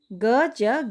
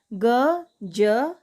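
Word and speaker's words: ग़ज़: ठीक है, और दूसरा है ग ज नुक्ता गज। ग ज नुक्ता गज। मेरा उच्चारण सुनिए, गज, ये हो गया गज मतलब लंबाई का एक मान।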